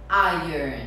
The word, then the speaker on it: iron: Então a palavra pronúncia correta é iron.